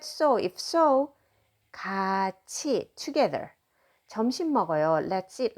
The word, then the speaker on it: 같이: Notice that I'm pronouncing it 가, just like that with a final consonant. And then not this t, but ch pronunciation. 같이 is how you pronounce together.